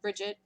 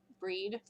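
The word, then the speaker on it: Brigid: drawing a connection to Bridget breed bride pronounce it however you wish for that particular thing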